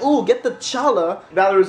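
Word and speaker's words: challah: They asked for egg bread, which to the point, Alexa was like, ooh, get the challa. Valerie was like, no, it's called challa, which is true. But it's spelled C-H. So is Chanukah, Valerie said.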